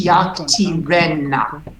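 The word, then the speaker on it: יַקְטִירֶנָּה: And you were correct in accenting it on the last syllable because 80% of the words will accent on the last syllable, but in this case, it's yaktirenna.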